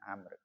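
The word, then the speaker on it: عمرو: Jadi Umar itu tulisannya ain mim ro. Kalau belakangnya ada wunya itu bacanya amr. Kalau gak ada wunya itu bacanya umat.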